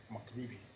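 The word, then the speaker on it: MacRuby: back to Allan Audio Mac Ruby is actually pronounced MC Ruby and hot C hot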